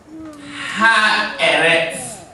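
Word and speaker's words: הארץ: Ha-eretz. Ha-eretz. This is like a T-S. This is how this letter normally is transliterated. T-S. Ha-eretz. Ha-eretz. It's like a sizzling sound. Ha-eretz. Ha-eretz. Ha-eretz. Ha-eretz.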